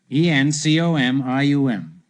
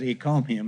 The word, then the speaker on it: encomium: You know, I mispronounced it a few weeks ago on the show. For some curious reason, I said encomium instead of encomium.